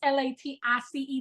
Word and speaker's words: Latice: It's Latice. There's no R. It's invisible and silent. It doesn't exist. Latrice is cool, but she ain't me.